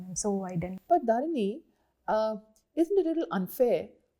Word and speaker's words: Dharani: How is it pronounced? Dharani, no? Dharani, ma'am. Dharani. Okay, that's the Tamilian version of Dharani. Yes. What we'd say Dharani in the north.